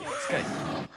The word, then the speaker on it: Scythe: It's Scythe, pronounced with a hard K. Skype.